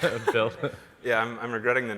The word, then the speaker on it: Buidl: That's how I'll pronounce it. Build.